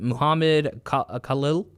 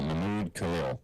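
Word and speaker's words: Mahmoud Khalil: is with this uh I believe I'm going to pronounce it wrong, but Muhammad Khalil. Uh, Mimmude Khalil. Oh, Mimmude Khalil.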